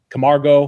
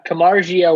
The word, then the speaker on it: Camargo: How do we say his name? Camargo. Camargo. You said it right.